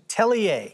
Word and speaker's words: atelier: Atelier.